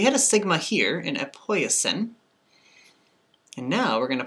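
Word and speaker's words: ἐποίησεν: And we pronounce this epoiesin, epoiesin.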